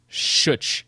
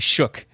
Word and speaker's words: Shook: Last time I said Shuch, but it's actually Shook, I think.